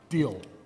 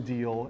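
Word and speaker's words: Diehl: he joins a company called um deal yes um D I E H oh so that's how you pronounce that deal I was still wondering how do I pronounce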